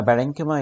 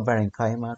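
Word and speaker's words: parenchyma: عندي بقى البلانت سيلز يا اما بارينكما يا اما كولينكما، او النطق في ناس بتنطقها كده وفي ناس بتنطقها كده، بنطقها بارينكايما كولينكايما سكالينكايما، مش هتفرق دلوقتي.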